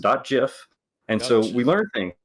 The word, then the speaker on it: GIF: you can do animated gifs it's pronounced jif by the way not gif and we know this